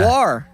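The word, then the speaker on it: au revoir: How do you pronounce it? Arvoir.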